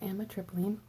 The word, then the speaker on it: amitriptyline: I can help that's why I'm here it's pronounced and the tripling it is a tricyclic I hope I'm seen